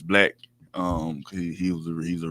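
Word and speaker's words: 6LACK: a uh black it's it's spelled six black but but it's I mean six LA but it's black um he was he's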